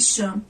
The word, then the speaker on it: Chan: Meu nome é Chan. Pronuncia-se Chan. Sim, eu sei que é diferente.